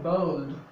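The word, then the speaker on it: bald: এখানে আরেকটি রয়েছে বি এ এল ডি, এটার উচ্চারণ কিন্তু হবে বোল্ড বোল্ড, এটার উচ্চারণ কখনোই বাজ নয়।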